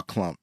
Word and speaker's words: Klump: And it basically serves to embarrass both Sherman Klump and his date Carla Purdy. So it's crazy. Also, I want to mention like the names of these characters. You have Sherman Klump, which rhymes it rhymes with lump.